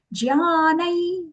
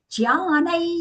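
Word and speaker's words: ज्ञानं: Then the anuswara here is being pronounced as a nasal ya sound because it is followed by the letter ya in the word yada. Then jnanai yada tada vidyat, yada tada.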